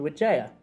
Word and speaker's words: Wijaya: through uh pilgrimage in Lords called Dr witha am I saying it right yeah absolutely thanks